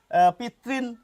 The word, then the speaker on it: পিতৄণ: আমি এখন আধুনিক বাঙালি যেভাবে উচ্চারণ করেন পিতৃণ এভাবে উচ্চারণ করব।